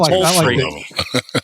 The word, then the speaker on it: Holtry: We had Kevin, as he talked about, not the half tree, but the whole tree. That's how he said his pronounced his last name. He's full Kevin of Holtry.